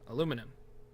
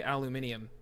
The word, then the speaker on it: aluminum: the um tough question can you pronounce aluminum properly aluminum I don't know Al aluminum I don't know I I I always for fun say aluminium but that's not right um all right so